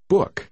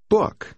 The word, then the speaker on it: book: Book. Book. Hai con chữ O đi liền nhau trong một từ thường được phát âm như vậy.